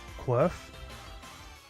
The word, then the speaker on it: Quirf: And I called it Quirf. Just because I thought it was funny. Like Q-U-R-F, like Quirf. That's how I pronounce it, Quirf.